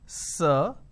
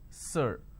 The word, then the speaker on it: sir: is sir right now this particular word is pronounced as sir now this is a vowel sound you will understand what a vowel sound is very soon it's sir this is how we are supposed to pronounce now if you go